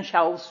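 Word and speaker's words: Chaos: کائوس میگن، شاوس میگن، بستگی داره که تلفظ انگلیسی و آلمانی فر من معمولا تلفظ فرانسوی به کار میبرم.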